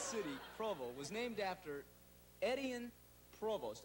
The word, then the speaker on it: Etienne Provost: Now, this city, Provo, was named after Etienne Provost. I think is the way you pronounce it.